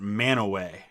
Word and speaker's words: Mantua: We pronounce it Manaway. I know it doesn't look like that, but that's what we call it, is Manaway.